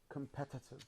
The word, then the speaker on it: competitive: number four number four competitive yes so the this uh the strongest syllable is pet participative competitive yes competitive